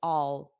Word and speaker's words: I'll: the pronunciation is weird it is weird because it's unstressed so the unstressed the natural way of saying this is all all all I'll do it I'll help you so